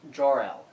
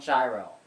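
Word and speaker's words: Jorell: It's pronounced Jorel, J-O-R-E-L-L, like Superman's father, not Gyro.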